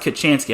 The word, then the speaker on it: Kachansky: As Cole Kachansky, yes, his name is pronounced Kachansky. I've been mispronouncing it terribly.